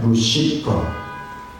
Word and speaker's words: 루시퍼: 옛날에는 우리가 루스벨이라고 발음했는데 이제 루시퍼로 이름을 바꾸기로 했어요. 왜냐하면 이것이 더 성경 원어에 가까운 거기 때문에 루시퍼.